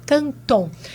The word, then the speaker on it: Canton: É muito fácil o meu nome, da forma como se pronuncia. Então, @Canton, com C e N no meio e no final. Canton.